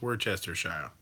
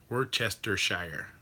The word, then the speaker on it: Worcestershire: And if he's, I'm the only one here, and I'm going to pronounce it correctly, so it's Worcestershire. Worcestershire.